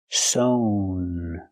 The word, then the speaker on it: sewn: And the participle is sown with a long o sound. Sown.